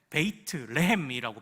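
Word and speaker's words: בית לחם: 우리 예수님이 베들레헴에서 오셨잖아요 베들레헴이 원래는 베이트 레헴이라고 발음합니다 레은 빵이란 뜻입니다 빵집 생명의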